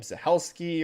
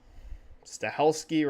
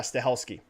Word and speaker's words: Stahelski: Chad, I don't remember how to pronounce his last name, Zahelski or whatever. How the freaking heck do you pronounce this dude's name again? Oops. Stahelski, right? Am I saying that right?